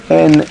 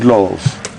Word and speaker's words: Ndlovu: In Zulu it's spelled Ndlovu, Ndlovu, whereas in Shangaan it's spelled Ndolpfu, Ndlopfu, but pronounced very much the same.